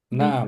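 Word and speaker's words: نَعَم: ini adalah kucing ahadun naam naam naam ini naam itu gini ya nun ain mim dibacanya cepat naam naam nomor 7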